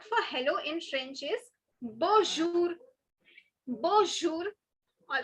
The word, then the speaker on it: bonjour: First, it is not bonjour, so don't pronounce the M. Okay, don't make the mistake of pronouncing the N.